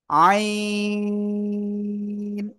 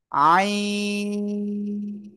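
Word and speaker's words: عين: বলে একেকজন তো এটা না এটা আমরা সঠিকভাবে উচ্চারণ করব ইনশাআল্লাহ আইন চার আলিফ টান আইন সবাই একসাথে জোরে জোরে বলেন আইন মাশাল্লাহ আমরা এটা ক্লিয়ার হয়ে গেছি।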